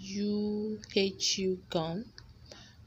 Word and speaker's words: UHU: So I'll be applying a U gum. Most people call it UHU gum, but I call it U gum. I just feel that should be the right pronunciation.